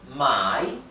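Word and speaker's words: 买: Si ustedes cambian el tono, pueden cambiar el sentido de la palabra. Por ejemplo, fíjense esta palabra, mai significa comprar y mai significa vender.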